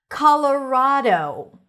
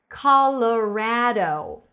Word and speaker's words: Colorado: A lot of times you'll see that the letter A is either pronounced as an A or an in certain names or names of states. So Colorado or Colorado? Which one do you prefer?